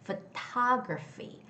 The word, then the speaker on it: photography: The word photography has the second syllable stress. It's photography, photography, photography, okay?